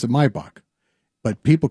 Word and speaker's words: Maybach: It's pronounced when you're in Germany, we pronounce it Maybach, but people call it Maybback.